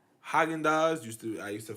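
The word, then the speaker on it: Häagen-Dazs: I grew up saying Hagin days and I was like from colleague now I see haagen-dazs cos a friend of mine ingrained in me and talks all my that's how it's pronounced that he he made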